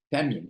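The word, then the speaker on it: תמים: hébreu qui est kamim Tamim ça s'écrit comme ça se prononce presque t a M i alors qu'est-ce que ça veut dire Tamim Tamim soyez parfait en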